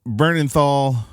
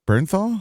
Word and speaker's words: Bernthal: Michael Bernenthal or wait, how do you say that? Barn Bernenthal, right? Burn Bern Burnernthal. Bernthal. Bernathl burn. Burn. Wait, there's not an L. Correct. There's no L.